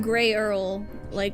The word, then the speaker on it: Grahal: we met Grahal. Grahal? I can't remember how to this. This is gonna be the most complicated name. It's like Grey Earl. Yes. Like Earl Grey tea.